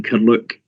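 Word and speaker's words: Carluke: For Bernard's information, the pronunciation is St Athanasius Primary School in Curluke.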